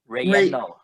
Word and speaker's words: Relleno: How do you pronounce it, Gordon? Relleno.